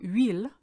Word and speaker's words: huile: Huile, because our H is silent, starts with U as far as we're concerned.